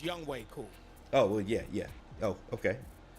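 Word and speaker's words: Younghoe Koo: It looked like Young Ho Koo. I'm gonna pronounce it Young Ho Koo. Young Ho Koo. Whatever. Hey, whatever. James, it's Young Way Cool.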